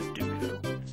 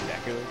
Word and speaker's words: Deku: But see, when I was growing up, for some reason, I would always pronounce any of the Deku words as Dooku.